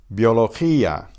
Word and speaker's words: biología: Biología, biología. Notice that bio is a single syllable because that's a diphthong. The I and the O combine into one vowel sound.